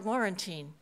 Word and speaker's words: Laurentine: the girls with hi my name is Sister laurentine you won't forget it because it rhymes with quarantine they never forgot it